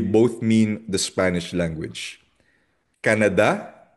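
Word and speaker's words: Canadá: Canada hindi siya Canada. Canada nasa da ang tilde pag sa Spanish.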